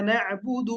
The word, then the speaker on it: نعبد: Practice করতে হবে এভাবে, ইয়াকা না'বুদু মানে নায়াতে একটু জোরে চাপ দিবেন আর এখানে একটু কম চাপ দিবেন, তাহলে ঠিক হয়ে যাবে।